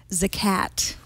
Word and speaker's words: Zagat: Which is pronounced Zagat, by the way. You could think of it as Zagat. Well, it's because that's how I always remember. It's the names of the couple, the Zagats, who founded this guy.